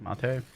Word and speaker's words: mate: spelled like mate, but it's like mate.